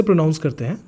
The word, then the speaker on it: pronounce: ये नाउन का फॉर्म है और जो इसका वर्ब का फॉर्म है वो है प्रोनाउंस, ठीक है? अब मेरे वर्ड्स को जो मैं साउंड बताऊंगा बहुत ध्यान से उसे सुनना। ये है प्रोनाउंस, ये है प्रोनाउंसिएशन, राइट?